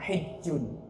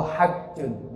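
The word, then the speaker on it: حج: Sebab haji itu dalam bahasa Arab hijjun atau hajjun. Jadi dalam bahasa Arab ada dua cara baca, hijjun, ada hajjun.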